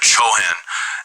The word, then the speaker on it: Chohan: There's one called the Chohan, and this is not Cohen, but very close. It's spelled Chohan, and they are also called the Lord of the Ray.